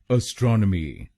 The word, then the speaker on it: astronomy: और ये ध्यान में रखिए कि हमको दूसरे शब्दांश पर यानी STRON पर जोर डालना है। एस्ट्रोनॉमी, एस्ट्रोनॉमी। गलत प्रोनाउंसिएशन में हम ASTRO पर जोर डालते हैं। एस्ट्रोनॉमी। तो इसको एस्ट्रोनॉमी नहीं बोलिए, इसको बोलिएगा एस्ट्रोनॉमी, एस्ट्रोनॉमी।